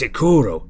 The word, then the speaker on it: Ikuro: For fuck's sake, that's not my actual name. It's Ikuro.